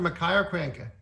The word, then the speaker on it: Makaio Krienke: pronounced his name in pronouncing quickly can you pronounce it for me more insane name for me yes so it's national master Makai are cranky yes all the way from Hawaii he's taking